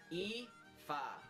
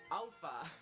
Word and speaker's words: Aoife: Aoife, it's pronounced Aoife, not Alpha, as a lot of people pronounce it.